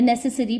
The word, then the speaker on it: necessary: they granted the necessary planning permission, the necessary planning permission। ये necessary नहीं होता, ई देख के आप necessary pronunciation नहीं है, जो pronunciation होगा वो होगा necessary, ठीक है, SSARY, ओके।